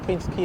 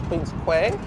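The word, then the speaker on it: Queens Quay: come to Queen uh to Toronto they will pronounce Queen key as Queen qu but pronunciations are correct of course so we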